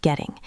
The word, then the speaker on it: getting: So the sentence is I am getting up. Listen to the pronunciation of getting. In American English, the double t sounds like a soft d. Getting. In British English, it is sharper.